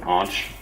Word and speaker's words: Anch: Alright, so you'll hear people refer to me as Anch, Anch, Anch. I pronounce it Anch. Technically, it's a form of Ankh, but I wonder how I pronounce it. I think I pronounce it kind of wrong.